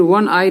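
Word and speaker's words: one-eyed: वन आई मैन, और फिर वन आइड मैन का उच्चारण ये स्टार्ट तो वो से हो रहा है, जो कि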